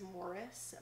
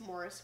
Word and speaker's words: Maurice: think in the video his name is Morris but it's like it's spelled like Maurice oh that's the worst name ever Maurice gross I think it's Morris gross first of all